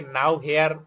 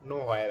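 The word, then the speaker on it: nowhere: এই জন্য আবার অনেকে নাও হেয়ার এইভাবে পড়ার চেষ্টা করে, ওইটা আবার পড়াটা কিন্তু ভুল। নো হোয়ার একসাথেই লিখতে হয়, এবং এটা উচ্চারণ নাও হেয়ার না, নো হোয়ার আর কি, কোথাও সে ডেন্স হয় না।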